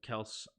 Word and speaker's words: Kelce: I mean, you can pronounce your name how you want, but the name Kels goes back to the centuries. It's Kels. Okay, I don't care. If they pronounce it Kelce, wouldn't it be Kelce then?